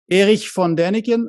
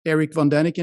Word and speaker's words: Erich von Däniken: Erich von Däniken, or Erich von Däniken if you pronounce it in English, is probably the one